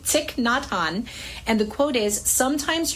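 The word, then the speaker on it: Thích Nhất Hạnh: Okay, I looked it up so I would pronounce it correctly. Ticknot Han.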